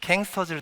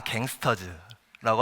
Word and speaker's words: KANGSTERS: 킹스터즈를 딱 보고 아, 갱스터즈라고 하시면 연배가 조금 있으신 거고, 이제 그대로 K 발음을 하시면 아, 좀 그래도 저희 나이 또래이시구나라고 인지를 하는데요.